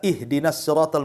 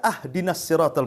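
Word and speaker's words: اهدنا: Contoh umpamanya kita baca ihdinasiratal mustaqim kan begitu. Kita baca ahdinasiratal mustaqim. Harusnya dikasr kita fathah pula tuh. Harusnya ihdinasiratal kita katakan ahdinasiratal.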